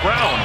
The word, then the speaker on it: Braun: Like it's Braun, B-R-A-U-N, but pronounced Brown.